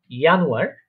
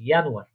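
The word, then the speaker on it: Januar: আপনি আমার সাথে সাথে প্রোনাউন্সিয়েশন করবেন, আমি একবার বলবো, আপনি আমার সাথে ওটা বলার চেষ্টা করবেন। ইয়ানুয়ার মানে হচ্ছে জানুয়ারি।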